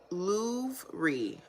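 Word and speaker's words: Louvre: what okay let's see man Lou with the re oh so Lou okay got it louy okay louy that the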